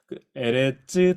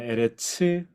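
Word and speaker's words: ארץ: 에레츠 또는 에레츠, 땅 할 때 에레츠 또는 에레츠 상관없습니다.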